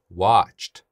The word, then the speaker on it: watched: 발음합니다 fin fin 그다음 watch네 성대 안 떨죠 그러니까 뒤에 오는는 T 발음합니다 watched watched watched네 요렇게 하시면